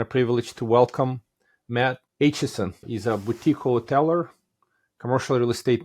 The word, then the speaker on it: Aitchison: I'm the Big Mike Zlatnik, and today it is my pleasure and a privilege to welcome Matt Aitchison.